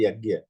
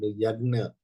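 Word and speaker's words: यज्ञ: for example G yag we generally say yag but here I heard yagna something some difference is there absolutely that's right so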